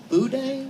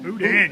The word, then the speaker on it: boudin: I'm going to mispronounce it, but it's on the show. Boudin? Boudin, yummy.